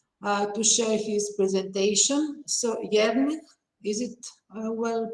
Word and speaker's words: Jernej: So, Jernej, is it well pronounced? Yeah, Jernej. Yeah. Jernej, okay.